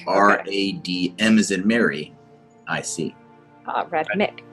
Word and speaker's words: Radmic: Radmick. Not that Gragnold knows how to spell it.